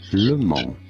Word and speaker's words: Le Mans: In France, it is said as Le Mans. Yes, the S is silent here.